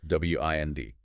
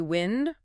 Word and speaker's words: wind: Or wind rhyming with find. That's the verb meaning to turn or coil something like winding a clock or a string.